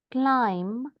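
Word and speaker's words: climb: क्लाइम, क्लाइम का B silent होता है बच्चों, ठीक है, जिस तरह थम का बी साइलेंट है, दम का बी साइलेंट है।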